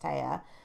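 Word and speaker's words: Tea: young lady named Taya, which is written T as in the drink, T-E-A, but I'm sure it's pronounced Taya.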